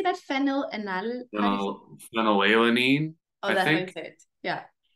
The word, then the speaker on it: phenylalanine: Phenylalanine. Oh, that makes it. Yeah. I find it difficult to get pronunciation guides for amino acids that we don't talk about very often.